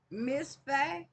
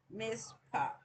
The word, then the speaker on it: Mizpah: yeah, PH is like the F sign, but it's PAH. Mizpah.